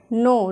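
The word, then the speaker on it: gnaw: होता है भरमार होना नो यहां पे जी साइलेंट है। नो नो का मतलब होता है कुतरना।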